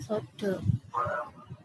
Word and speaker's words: sada: Bacanya tulisannya sada, bacanya sodo.